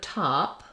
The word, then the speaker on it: top: have two sounds so in the word top letter O says ah and that's actually in stress syllables the letter O typically says Ah in English so words like job or not or problem all have the ah vowel many times when you're thinking about ah you might think of the letter A like in father but in English we typically spell ah with letter O So top only has